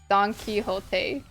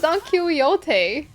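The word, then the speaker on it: Don Quixote: was like donot and that's where I learned that it's supposed to be pronounced donkey hot I have learned I have learned my lesson I I didn't know I don't know I thought it was Don kote I thought it was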